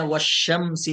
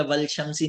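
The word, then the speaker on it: والشمس: कुरान में पढ़ते हैं वशम्सी व दुहाहा, वाव से मिलाया तो लाम साइलेंट हो गया, वल शम्सी नहीं पढ़ते हैं, वशम्सी।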